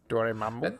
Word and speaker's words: Dormammu: Dormammu. That's how you say it.